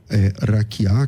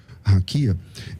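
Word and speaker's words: רקיע: E essa palavra, raquiá, que você por alguma razão pronuncia raquia, essa palavra, ela Cara,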